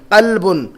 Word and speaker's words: قلب: قلبن. دل کے لیے جو لفظ ہے کیا ہے؟ قلبن، بڑی قاف سے قلبن.